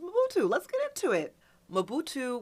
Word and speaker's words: Mobutu: Fatu rhymes with Mobutu.